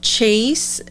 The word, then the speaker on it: Chase: So you guys go and check out Chase, just as it sounds like the word Chase, _Cashman on TikTok.